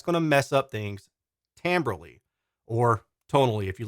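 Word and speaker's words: timbre: to mess up things tamberly or tonally if you like that word better by the way tamber is spelled like Timber and it really bothers me okay so let's see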